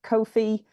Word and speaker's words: Ko-fi: We've gone for the website Ko-fi. Which we've checked, we looked up the pronunciation. It is pronounced Ko-fi, but it's Ko-fi.